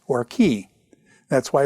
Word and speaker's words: chi: key is the uh or Chi however you want to pronounce it and stuff but it's actually key a key is basically